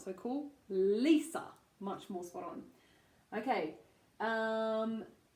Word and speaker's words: Lisa: is ELISA okay so Lisa so we have our long e again so Lisa and